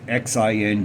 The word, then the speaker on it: Xing: If you watch some of her videos, her name is Zing, I think you pronounce it. It's Xing, Xing.